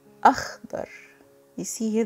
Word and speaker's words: أخضر: Next we have akhdar. Akhdar. You see here the KH is pronounced kh and the dad is D thickened.